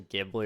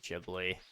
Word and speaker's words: Ghibli: Was that actually Ghibli or was it Ghibli? Is it soft G or hard G? Actually, I should have asked this question first. What is your problem with some animes? Usually, it's the, G, not a J.